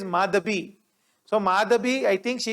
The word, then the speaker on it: Madhabi: please remember the name it is not madavi it is madhabi so madhabi i think